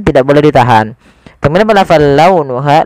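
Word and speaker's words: لونها: Kemudian pelafal launuha, lembutkan pelafalannya dalam launuha karena ada huruf waw yang sukun didahului dengan fathah. Ha ada mad tabi'i, panjangnya 2 harokat.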